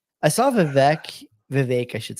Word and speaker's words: Vivek: I saw Vivek, I should say, that's how you say his